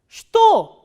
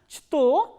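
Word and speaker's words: что: So, here this ch sound is, ch letter is pronounced as sh, sh, not as ch. So, now try to pronounce this word shto, shto. So, instead of pronouncing is as chto, we are pronouncing is as shto.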